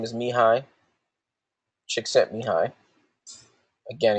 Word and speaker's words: Csikszentmihalyi: One's named Martin Seligman, and the other's name is Mihai Csikszentmihalyi. Again, he's got a lot of vowels and consonants and stuff. It's just pronounced Csikszentmihalyi.